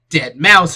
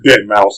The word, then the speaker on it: deadmau5: genre was you know dead mou 5 or dead mouse as I'm told it's pronounced although if you didn't want me to